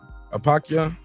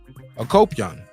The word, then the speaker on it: Akopyan: How you say his name? Manuk Apakyan? Akopyan. Manuk Akopyan.